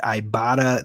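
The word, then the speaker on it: Ibotta: talk to you about our friends over at ibata that's right it is pronounced ibata but it's spelled iBot TTA and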